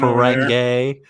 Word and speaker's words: Ferengi: by Armin Shimmerman for saying Ferengi wrong. I did say Ferengi wrong. Yeah, Whoa. Captain Star Trek fan. Ferengi. Did I just say it wrong again? No, you said it right this time.